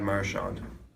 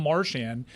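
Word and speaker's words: Marchand: This was many years ago he was asked, "How do you pronounce your name?" Brad Marshand. Dan, you're right. Wow. Dan was right. But also, it's not just Americans. It's like the chicklets guys can't pronounce this guy's name with a lick. It's become Marian. And I'm like, do I have this wrong? I assumed it was Marawn, but all these hockey guys are saying Marian.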